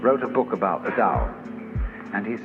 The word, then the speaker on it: Tao: called the dao tao pronounced dao in the mandarin dialect tau in the shanghai dialect in the cantonese dialect